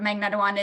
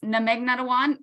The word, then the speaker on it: Magnetawan: So in my introduction, I butchered it, but the actual pronunciation of Magnetawan is Namegnetawan.